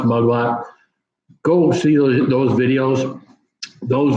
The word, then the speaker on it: Magma: month yes you look it says magma it's pronounced Magua go see those videos